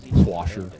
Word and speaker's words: wash: I explained to him there's no R in it, but he wasn't having it.